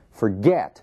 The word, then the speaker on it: forget: Admitting, forget, mesmo caso, forget, a sílaba tônica é o get.